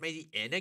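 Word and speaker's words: Mightyena: Panette evolves into Mighty-Ina, and our Granite Cave... I'm sorry, say that again? Mighty-Ina? Mighty-Anna. Actually, it's pronounced Mighty-Anna. Get your facts straight.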